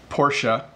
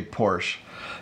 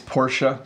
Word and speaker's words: Porsche: say this but its Porsche in North America people often say poor so they'll say oh that's a nice new Porsche that you're driving oh did you hear that Joe's dad bought a Porsche so again I'm sorry